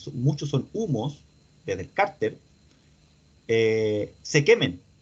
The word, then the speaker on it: cárter: Cárter es con acento en la A, ¿cierto?